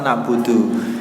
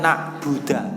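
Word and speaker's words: نعبد: Ataupun contohnya lagi adalah membaca fathah dalnya lafal na'budu. Jadi kalimatnya itu aslinya na'budu, dibaca na'buda. Itu juga hukumnya haram.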